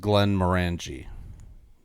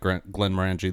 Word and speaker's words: Glenmorangie: I've always said it Glenmorangie.